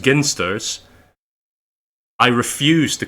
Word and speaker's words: Ginsters: the the pasties company I know that it's pronounced ginsters I refuse to call it that because it